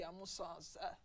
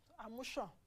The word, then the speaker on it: Amusan: In fact, I can't tell you how crazy I went when I watched Toby Amusan's Amushan. They said the Ogun State people have told us how to pronounce the name.